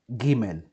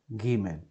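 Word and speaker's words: גימל: Now, this letter is Gimel. Gimel.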